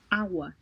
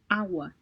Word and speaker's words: agua: So if it was, it would have sounded like the H in the word hot, right? So this appears to be more silent, and I think that's why they term it to be soft. So agua, agua, it's more like agua, water.